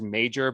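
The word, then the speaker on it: Meijer: guy peter i think his name is major but it's smell it's spelled like m-e-i-j-a-r i don't know it's uh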